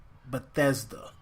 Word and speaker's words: Bethesda: Bethesda.